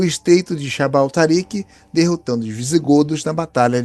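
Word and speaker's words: جبل طارق: Mas na pronúncia árabe daquela época era Jabal Tariq. Jabal Tariq significa Montanha de Tariq. Então, Jabal Tariq, com o tempo e com a modificação das pronúncias, vai virar Gibraltar.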